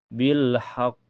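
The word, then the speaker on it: بالحق: Cara bacanya agak tertahan dulu lalu dipantulkan.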